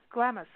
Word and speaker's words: Glamis: And up in Southern California deserts, out by Glamis.